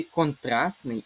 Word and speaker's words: контрастний: У слові контрастний і 60 буде спрощення. Отже, звук ти випадає. І цього зву звука просто не буде. Ми його просто не вимовляємо.